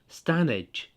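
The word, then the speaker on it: Stanedge: Hello, I'm on my adventure again, and today I'm at Standage, or locally pronounced Standage, and I'm at Britain's oldest industrial chimney.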